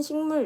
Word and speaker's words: 식물: 그리고 두 번째 예시인 식물 역시 식이 아니라 식물 하면서 이응으로 발음이 나고 있죠.